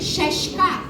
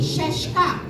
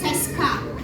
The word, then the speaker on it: сяська: И еще такая есть особенность, что мягкая «с», она произносится как «щ», как в слове «щащка», цветок. Давайте попробуем произнести «щащка».